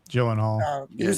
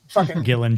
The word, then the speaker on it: Gyllenhaal: with with Jake uh Gyllenhaal. My last name I can never pronounce. Yeah, Jake Gyllenhaal. it. Gillan Gyllenhaal. it. Jill like a villain.